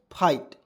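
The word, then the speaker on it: fight: आइट ठीक है तो इसको क्या पढ़ते हैं फाइट ठीक है तो एफ आई जी एस टी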